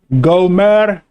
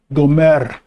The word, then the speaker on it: Gomer: word there it's pronounced gomer the r you roll the r gomer okay the sons of